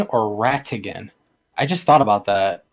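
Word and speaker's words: Ratigan: about that um um same spelling different pronunciation pronunciation sorry well would be with like like R A but rattigan would be with a t so and it's just how much you're enunciating the T yeah I'm slurring half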